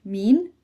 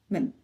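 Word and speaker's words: من: There are a few different ways this is said in Saudi including mean and min. In this course we will use men.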